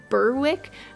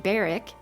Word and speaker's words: Berwick: the last episode that I was saying Burwick the whole time and the name of the town is definitely pronounced baric that's a really bad